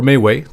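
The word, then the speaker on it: MeWe: always notified and again me we or maywe depending on how you like to pronounce it has grown exponentially it's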